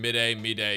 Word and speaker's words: Mydei: in English but like if you've been calling him mid a mid day you're probably more technically correct it's just this is